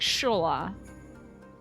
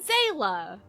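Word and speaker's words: Xaela: this because I think I learned how to pronounce it wrong for the whole time I was saying like Shola and it's not that so how do you say is it zayla it's freaking zela I was sure it was Shula and I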